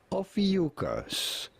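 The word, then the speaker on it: Ophiuchus: How do you go about pronouncing it? Ofucus.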